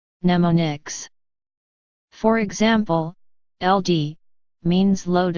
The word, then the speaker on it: mnemonics: by short names called mnemonics pronounced as mnemonics for example LD means